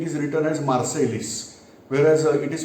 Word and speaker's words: Marseille: French scripting or, but spelling wise it is Marseilles. Whereas what we learn, they pronounce it as Marseille, like a Treaty of Versailles.